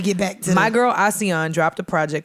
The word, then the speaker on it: Asiahn: for anyone interested in ASEAN, how do you spell that? It's ASIAHN. Because I was like Asian, bitch. Bit. ASEAN.